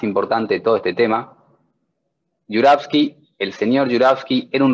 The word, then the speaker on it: Jouravski: tenemos un ruso con un apellido en ruso que se pronuncia jurowski y pueden escribir más